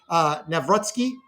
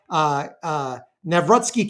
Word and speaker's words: Nawrocki: depending on, there's a couple different ways to pronounce it in Polish, but I would go with Nawrocki.